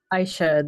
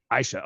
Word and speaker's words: Aisha: Aisha, the A is silent. Aisha.